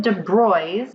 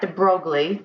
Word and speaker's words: de Broglie: velocity so looking at De bry's or Lou de Bry not de brogle but it looks like